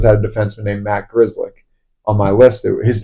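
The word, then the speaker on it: Grzelcyk: Um, like for example, last year the Penguins had a defenseman named Matt Grizzlick on my list, his name is spelled G R Z Y L E C.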